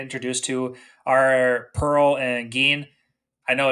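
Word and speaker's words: Gin: don't really get introduced to are Pearl and Gan I know it's spelled like Jin but it's pronounced Gan so I want to throw that out there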